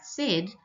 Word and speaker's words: said: way it is sounded if we sound out said s d the middle sound sounds like an e but we spell it with AI so we have to